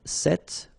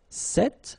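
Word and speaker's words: ces: vowel after and then set feminine form and for the plural you've got only one form okay and it's se okay remember open se okay one example so this book.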